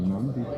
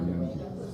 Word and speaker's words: Nandita: Is it Nandita or Nandita? Either way, yeah, either way, it doesn't matter.